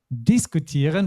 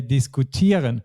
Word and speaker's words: diskutieren: And we don't say diskutieren, but we say diskutieren. So the stress is not on the first syllable either.